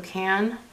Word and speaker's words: Cannes: I'm going in with Cannes. There we go, Cannes. Like the Cannes Film Festival. That's how I have to remember how to pronounce it. Cannes Film Festival. Yeah. So Cannes.